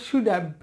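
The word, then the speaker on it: should have: যাই হোক তাহলে হচ্ছে কি সুজ, আর এইখানে এইচ এর উচ্চারণটা সাইলেন্ট থাকবে, তাহলে সুজ্যাব সুজ্যাব এভাবে আমাদেরকে মিলিয়ে নিতে হবে সুজ্যাব সুড।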